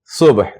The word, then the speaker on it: صبح: صبح یعنی اس طرح سے ہے, یہ سواد ہے, اس پر پیش ہے, یہ بے ہے, اس پر جزم ہے, اور یہ ہا ہے, خے, اس پر بھی جزم ہے.